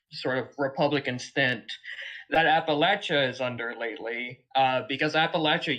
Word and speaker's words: Appalachia: Lily from Appalachia. Yes. Hello. Hello, it's Appalachia. Appalachia. Welcome. Yeah, there's a saying here that if you pronounce it Appalachia, I'm gonna throw an Appalachia.